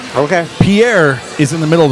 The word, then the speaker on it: Pierre: people think I'm pronouncing it wrong, but I'm pronouncing it right. Okay. Pierre is in the middle of the state.